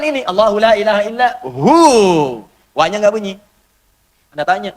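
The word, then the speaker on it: هو: Hu, singkatan dari huwa. Hu itu singkatan dari huwa. Huwa begini. Karena kalau kita wakaf dalam bacaan huwa, wa-nya nggak dibaca. Bacanya hu.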